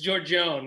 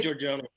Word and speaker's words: Giorgione: from collage baseball it's it's georgione yeah you can say george ravioli so i'll